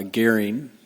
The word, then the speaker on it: Goehring: the record I'm Doug Goring North Dakota agriculture commissioner my last name is spelled g-o-e-h -r-i-n-g sometimes pronounced uh gearing where I have relatives down here and South of the Border too commissioner were you in